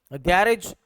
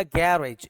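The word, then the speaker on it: garage: गैरेज एक word है। इसको अमेरिकन जब भी पढ़ेगा वो पढ़ेगा गैरेज। जी ए जो है यहां पर है गै। इस पर जो है वह स्ट्रेस है गैरेज और जबकि ब्रिटिश जब पढ़ेगा तो वह स्ट्रेस लास्ट वाले वर्ड्स पर देता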